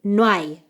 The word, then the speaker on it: no hay: Y otra vez juntamos no y hay y no hay.